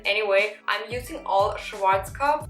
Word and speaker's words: Schwarzkopf: way i'm using all schwarzkopf i don't want to say it in english like schwarzkopf that's how you pronounce it actually i'm using all